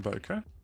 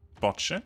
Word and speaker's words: Botcha: Well, thanks for hopping over and checking out my channel from Boca. Botcha, sorry. It is pronounced Botcha, you just won't tell anyone. It says that somewhere in his Discord profile.